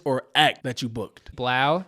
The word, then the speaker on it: 3LAU: Blau. It's pronounced like 3LAU.